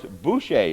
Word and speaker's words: Boucher: scenery Bob Van and father Morris bushe I said it right that time we're here at iont